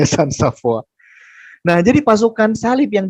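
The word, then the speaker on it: Walter Sans-Avoir: Nah, Walter Sans Safoir tulisannya bacanya San Saf.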